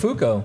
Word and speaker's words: Buttafuoco: Buttafuoco.